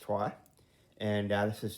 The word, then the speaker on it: Troyes: in the top 100 uh board games called trois it's pronounced tua and this is tua dice which um has a similar i guess